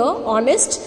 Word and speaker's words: honest: Honest man, again it is, see I told you over here, honest, it is starting with H, but the pronunciation, the sound is honest, O.